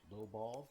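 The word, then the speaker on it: LOBL: So, lock on before launch is pronounced low ball. Lock on after launch is low owl.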